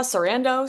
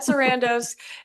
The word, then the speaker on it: Sarandos: Did I say it right, Paula? Sarandos? Yep. Ted Sarandos.